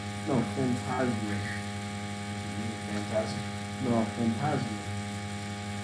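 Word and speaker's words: fantasma: Phantasma. You know what that means? No. Yes. Oh, you mean phantasm? No, phantasma.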